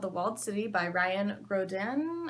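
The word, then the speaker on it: Graudin: city by Ryan Grodin I want to say like a French person because I think it's supposed to be pronounced hoda but like no one would recognize that Ryan Grodin live the French is so much prettier hook line is run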